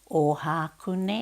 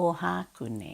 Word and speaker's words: Ohakune: tornado tornado now two way now to way ohakune a ohakune a right teehee right teehee yo cally Ewing